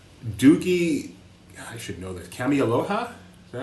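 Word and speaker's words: Kameāloha: Kamialoha? Is that how you say it? Dr. Doogie Kamialoha? Doogie, yeah, Kamaloha.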